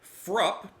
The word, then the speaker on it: Fruupp: Legends by the band frup is how I understand to pronounce their name cuz someone said that it Rhymes up cup so frup uh this album released